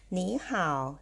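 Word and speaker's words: 你好: ว่า อัน นี้ ข่าว หนี ห่าว จำ ได้ นะ คะ เสียง สาม มา เจอ กับ เสียง สาม เรา ต้อง เปลี่ยน เสียง 3 ตัว แรก ออก เสียง เป็น เสียง 2 ค่ะ กลาย เป็น นี้ หนี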